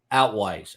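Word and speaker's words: Altwies: First Judicial District Attorney Mary Carmack am I pronouncing this right Nicholas if you know where altues do you know it's outlooks yeah out wise outwise every person she writes or says every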